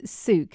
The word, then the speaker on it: Sook: So it is Sook, is that right?